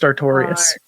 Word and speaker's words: Artorias: It's literally Artorias. How have I been saying that wrong? Thank you for correcting me. How have I been reading that so wrong? It's literally just Artorias. Artorias.